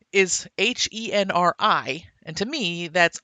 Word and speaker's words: Henri: with him and his C-Pan, whose name is Henri, and to me that's Henri. That's French spelling. So Yeah. the whole time I read it, I pronounced it Henri, but in the movie they just call him Henry, and that actually bothers me.